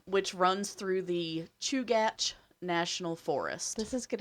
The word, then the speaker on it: Chugach: But I did look up the Chugach, and it surprised me that's how it was pronounced. But Chugach, that's what it said.